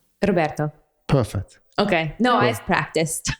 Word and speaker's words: Roberto: But normally when my English native speaker students try to pronounce the final O of a word, normally the O lasts longer than it normally does.